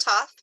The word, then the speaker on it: Thoth: Hermes yep Hermes and Toth for sure it is spelled Thoth it is pronounced Toth by the way okay